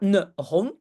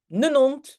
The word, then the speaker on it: ne hond: comme hond, un chien, Dans le Tussental, on ne dit pas la H. On fait comme si la H n'est pas là. Et si la H n'est pas là dans la prononciation, ben, il faut aussi lier. Donc, c'est aussi non. D'accord? Donc, ce n'est pas ne hond, mais nenont, nenont, nenaap, ne man, ne parapluie.